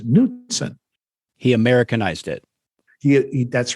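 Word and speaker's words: Knudsen: but it's interesting because when uh a lady reporter asked him one time and addressed him as Mr kuden he said uh no that's not how you pronounce my name he said you don't call it a k do you so so so k n u dsen he pronounced as newon he Americanized it he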